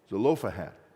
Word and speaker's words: Zelophehad: He's not supposed to be taken out of their records, as we know, because we have his name, Zelophehad. Get the syllables in the right order.